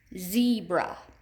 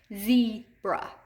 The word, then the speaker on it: zebra: practice a couple more zebra zebra where do we hear that long e the bra in the first syllable we hear that long e before our hand I mean before our chin hits our hands z bra okay so that's gonna go under first syllable you go ahead and